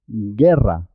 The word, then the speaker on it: guerra: Guerra. La U no se oye, no se escucha. La U es muda en este caso.